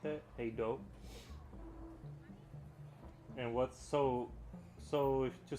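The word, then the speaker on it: hej då: You would pronounce it like hey do. You would pronounce it like hey do. Oh, the to say goodbye. Hey do. Hey do. Not hedge da.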